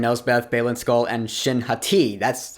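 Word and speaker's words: Shin Hati: the baddies Morgan knows Beth Baylen skull and shinhati that's how you say her name which makes a lot more sense than hottie yeah and so the baddies come out of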